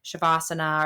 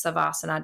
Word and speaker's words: Shavasana: anyone who's unfamiliar with like shavasana or sometimes savasana just depend you know how you pronounce it is those last few